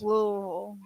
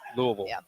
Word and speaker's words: Louisville: Louisville there's no s Louisville Louisville anyway nobody says the S though right no Louisville Louisville no